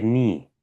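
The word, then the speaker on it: knee: هنيجي نقول ناخدها هيت في هنا في الجدول ده، اللي هي ركلات الركبة اللي هي ني الكي الأولانية دي سايلنت، ما بتتنطقش، يبقى نقول ني تكنيك.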